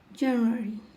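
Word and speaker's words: January: নামের সঠিক উচ্চারণ জানব জানুয়ারি জানুয়ারি জানুয়ারি এখানে আর উচ্চারণ হয়েছে কারণ লাস্টে ওয়াই আছে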